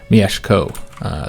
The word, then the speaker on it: Mieszko: I think I was calling him Mieszko. Apparently, the SZ are the sh sound, like a SH, so there'd be Mieszko.